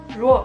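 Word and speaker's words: 弱: and it means weak or weakness, pronounced ruo.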